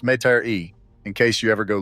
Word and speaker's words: Metairie: And it was buried in the Garden of Memories Cemetery in a small town outside New Orleans called Metairie, pronounced Met-a-ree, in case you ever